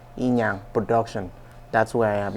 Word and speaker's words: Inyang: you may think of once you go ubong inang production that's where I am you see all